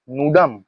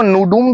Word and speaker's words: nudum: तो इसको नूडूम भी बोलते हैं, नूडम भी बोलते हैं। ठीक है, प्रोनाउंसिएशन कुछ अलग हो सकता है कुछ लोगों का, उसमें कुछ दिक्कत नहीं है। मैं ये नहीं बता रहा हूँ कि मेरा प्रोनाउंसिएशन ही ठीक है, स्पेलिंग होगा NUDUM, ठीक है।